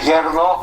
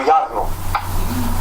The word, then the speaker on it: yarno: Por esto digo, por ejemplo, la E que viene enfrente de R en un sílabo cerrado convierte en una A. No se dice verdad, sino verdad. No se dice yerno, sino yarno.